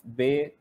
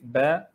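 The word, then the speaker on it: باء: So they say Alif, Be, Te, Se. The right way of pronouncing these Arabic letters is Alif, Ba, Ta, Sa.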